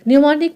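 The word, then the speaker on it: mnemonic: न्यूमोनिक में am silent रहता है।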